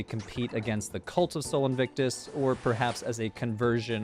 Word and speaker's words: Sol Invictus: sun the unconquerable sun Soul Invictus or soul and witness for those of you who prefer the classical pronunciation every year around Christmas